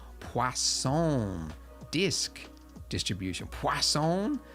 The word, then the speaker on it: Poisson: Poisson? There's no W in it, but I was told that that's how you say it. I guess it's French.